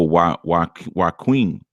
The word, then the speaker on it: Joaquin: Oh, why Queen is how it's pronounced. Why Queen. Okay, Nikki Love, you must be really in love with him. Doggone it. Joaquin.